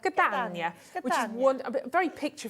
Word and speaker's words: Catania: Which one have we got? Catania. Catania. Oh, you see, if you do it with the accent, it helps, doesn't it? Catania, which is a very picture frame, very antique, vintage picture frame.